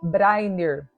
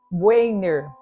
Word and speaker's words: Brainerd: Hoje nós vamos estar falando sobre, no português é pronunciado Davi Brainer, né? Agora no inglês, Dave Brainer.